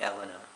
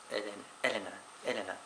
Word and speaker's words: Elena: The English way to say it would be Elena, but it's Elena. It's Italian.